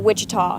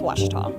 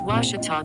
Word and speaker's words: Ouachita: Back in Texas, everybody pronounces it Wichita, but really, it's Ouachita. Ouachita. Ouachita. How would you pronounce it? Ouachita. Ouachita. It's Ouachita Baptist University.